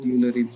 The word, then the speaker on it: Eulerian: I'll call it Eulerian framework because that's a very commonly used pronunciation.